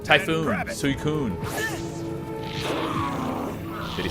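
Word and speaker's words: Suicune: It's Suicun. Like a tsunami. All right. Typhoon Suicun.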